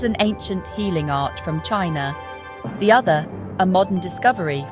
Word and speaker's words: qi: For over 2,500 years, practitioners have believed that a vital energy called qi pronounced chi, flows through these pathways.